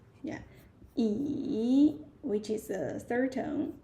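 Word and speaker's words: 椅: So for the first word E that is the third tone. Yeah E which is the third tone.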